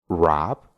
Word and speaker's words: wrap: El octavo truco es que cuando tenemos una palabra que empieza con una W y después tiene una R, solo vamos a pronunciar la R y no vamos a pronunciar la W.